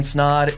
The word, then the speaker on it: Snod: My name is Snod. It rhymes with odd, and you're watching and listening to the Rhymes with Odd podcast.